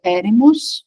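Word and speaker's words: ἔρημος: encontra nela também eh a palavra em grego que se pronuncia eremos se refere a deserto Então se a gente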